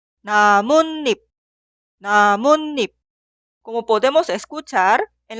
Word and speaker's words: 나뭇잎: Escuchamos la pronunciación 나뭇잎, 나뭇잎.